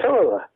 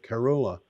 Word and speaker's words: Kerala: Switching from coal to renewables can save Kerala with 9,000 crore of rupees in 5 years.